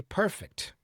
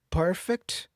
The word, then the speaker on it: perfect: So, now I say perfect. You see? So, perfect with the stress on the first syllable, that's the adjective, okay? Perfect with the stress on the second syllable, that's the verb.